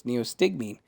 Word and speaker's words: neostigmine: of her pocket ah so it's neostigmine that's how you pronounce it ah i see not